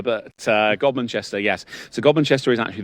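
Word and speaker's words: Godmanchester: You pronounce it gobinchester, not gumpster. Some people like pronounce it gumster, but uh gomanchester.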